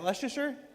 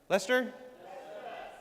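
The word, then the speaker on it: Leicester: Is that Leasher? Lester.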